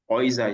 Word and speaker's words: Häuser: Häuser is plural. So when you have the A umlaut on U, it's pronounced like oil, just like the EU, oil.